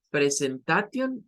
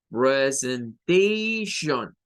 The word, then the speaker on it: presentation: Bien, entonces, siempre esa terminación, la T no suena. La T nunca va a sonar. No es tion, no es presentation, no. Es presentation. Suena Shion. Es el sonido SH.